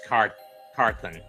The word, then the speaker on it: Carthon: Maurice Carthan in 86. Or Carthon, or however you pronounce it. And he was also there again in 90. It was Maurice Carthen.